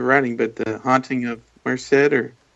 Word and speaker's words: Marcasite: Or not your newest book, the one you're writing, but The Haunting of Marcet or how do you say it? The Haunting of Maruset. Uh, the main character Marusette.